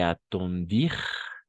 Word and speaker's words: attendirent: Saluèrent le général et attendir, parce que ENT no pronunciamos.